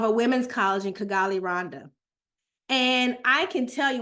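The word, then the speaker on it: Rwanda: anything about East Africa or or people say Randa but it's actually pronounced correctly Rhonda if you don't know anything about Rhonda it's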